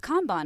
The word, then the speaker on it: Kanban: And I was like, no, it's pronounced Kanban.